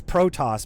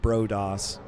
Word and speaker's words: Protoss: It's protos, by the way, not bros.